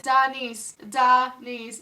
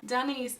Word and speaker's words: Daniece: It's Daniece, Daniece. Put it on the screen in big letters. My name right there, Daniece.